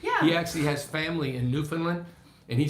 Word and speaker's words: Newfoundland: Newfoundland, yeah.